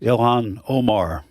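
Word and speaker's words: Ilhan Omar: Elon, how do you pronounce? Elhan Omar. Ilan Omar.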